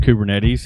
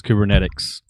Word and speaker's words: Kubernetes: matter how many times he hears the word kubernetes he always says kubernetics i've quit trying to